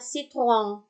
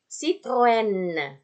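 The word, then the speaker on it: Citroën: Padahal yang betul adalah Citroen. E-nya terbaca jelas dan huruf yang setelahnya itu terbaca juga jadinya.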